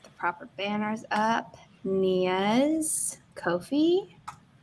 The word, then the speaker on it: Ko-fi: Nia's Ko-fi. Rhymes with no fee, which is why all creators should be on the platform.